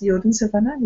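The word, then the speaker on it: Jodensavanne: we go to the yoden savan am I pronouncing correct yes yoden savan yeah okay the yoden Savanah could you tell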